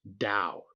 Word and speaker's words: Daou: His name is spelled d a o u and it is pronounced Dow. Rhymes with how. He has said so himself in public more than once. Peter Dow.